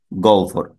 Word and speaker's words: গহ্বর: ঠিক আগের মতোই গহ্বর, গহ্বর। এটার উচ্চারণ হবে গহ্বর।